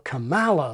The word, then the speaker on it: Kamala: And I think ironically, Alastair even produced a hybrid of the camel option and the koala option. Kamala Harris. Alastair and Rory should perhaps bear in mind that the koala pronunciation has already been weaponised in the American culture war and become a sort of badge for the right. Kamala Harris. A few Americans, by the way, go for Kamala, like American gala.